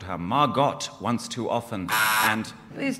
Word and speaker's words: Margot: Margot Asquith says to her, like, you know, my name isn't Margot, it's Margot. The T is silent.